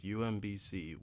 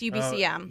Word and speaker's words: UBCM: coverage of this year's UMBC, which is wrapping up on this Friday. Have I been saying it wrong the whole time? UBCM? UMB. Oh, it's UBCM. My bad.